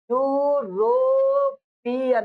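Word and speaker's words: European: यूरोपियन, ऐसे लिखोगे इसको, पढ़ो प्रोनाउंसिएशन क्या होता है, यूरोपियन, यही तो होता है। तो किससे स्टार्ट हुआ, वाई से स्टार्ट हुआ, नहीं आया, समझ में आ रहा है?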